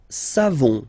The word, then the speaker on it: savons: Nous savons, so classic ending for nous, O-N-S, you don't pronounce the final S, nous savons, nous savons, okay?